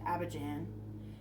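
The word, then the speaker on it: Abidjan: first is the main capital and um it's pronounced Aban and then the second is an administrative Capital but Aban is the main capital that they use if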